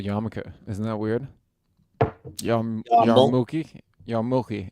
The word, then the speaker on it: yarmulke: More says Diamond District and a Yamika bling bling. Yarmulke.